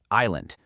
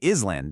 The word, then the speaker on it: island: Island. Your brain wants to say is land, doesn't it? But nope, that S is another one of those ghost letters. We just pretend it isn't there and say island.